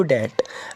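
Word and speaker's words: debt: Going to get into डेट, मैं कर्ज में नहीं पड़ना चाहती हैं। डेट का मतलब है कर्ज, इसमें बी नहीं पढ़ा जाता है, साइलेंट होता है।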